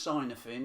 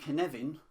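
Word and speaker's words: Cynefin: but it's not pronounced sigh nothing it's pronounced Kevin and it rhymes with Kevin now in this framework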